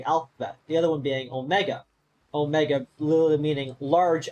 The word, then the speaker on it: Omega: That's why one is O-mega and the other one is Ah-micron, because the Omega is pronounced O, and the Omicron is pronounced Ah.